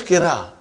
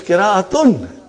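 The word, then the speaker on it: قراءة: What is qira? It is qira'atun. Are you with me? When you say qira, you did not pronounce ta marbuta.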